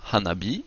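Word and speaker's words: 花火: Nous pouvons combiner si nous mettons ensemble Hana et B, nous obtenons Hanabi qui veut dire le feu d'artifice ou encore la fleur de feu.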